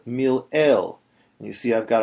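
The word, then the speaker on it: מלעיל: This is called, this type of accent, where the accent is on the next to last syllable, rather, of the word, is called mil-el.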